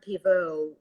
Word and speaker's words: Pivot: is called the bernard pivo questionnaire because it's named after a french show host who used to do the same thing but pivot is this spelled the same as the word pivot so as we are